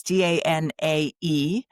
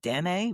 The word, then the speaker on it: Danae: And so that's Danae. And I saw a couple of different pronunciations from that, but I go with Danae.